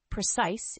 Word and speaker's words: precise: third word is precise the word precise has two syllables with the stress on the second syllable precise is an adjective and